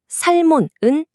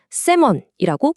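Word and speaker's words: salmon: 알파벳 L 소리가 들어간 살몬은 땡 틀렸어요. 영어 단어 연어에서 L은 소리가 아예 안 나는 무음이거든요. 그러니까 식당에서 성공적으로 연어를 주문하고 싶으시다면 L은 머릿속에서 과감히 지워 버리시고 세먼이라고 부드럽게 발음해 주셔야 해요.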